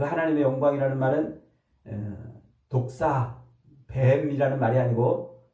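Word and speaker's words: δόξα: 드러나는 거예요 하나님의 영광 그 하나님의 영광이라는 말은 독사뱀 말이 아니고 발음을 독사 아고 말하는데 하나님의 하나님 되심이 드러난다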